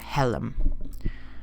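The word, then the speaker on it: حلم: far as I know, is pronounced something like helm. However, the S sound is actually not marked at all, and the spelling could literally be transliterated into English as something like HLM.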